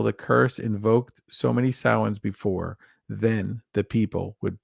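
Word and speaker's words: Samhain: and we know it's we we all say sam Hayne but it's sin right it's supposed to be pronounced sin okay in a f in a foggy veil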